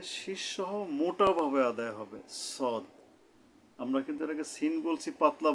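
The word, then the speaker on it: صاد: পেরেছেন এরপরে আমরা সোয়াদ নিয়ে কথা বলবো সোয়াদ সদ তো এটা হলো কিভাবে জিহ্বার আগা সামনের নিচের দাঁতের আগা থেকে শীর্ষসহ মোটা ভাবে আদায় হবে সদ কিন্তু এটাকে সিন বলছি পাতলা ভাবে কিন্তু সদ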